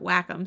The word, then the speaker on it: Wacom: I've never really known I used to call it wcom but then I heard people calling it whack them so I just went with that one I have the smallest